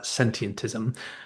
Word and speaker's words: sentientism: But um the easiest way I find to say it is to start with the word sentient, then take a breath, then just add the ism on the end.